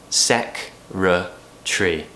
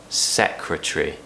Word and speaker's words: secretary: extra syllable in there we actually relaxed this word a lot in British English SEC tree secretary rah-rah that's a sound